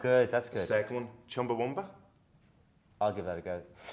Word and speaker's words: Chumbawamba: There's no U. No, you. It's Chumba. Y instead. Chumbawamba. Chumba. Chumbawamba. That's it.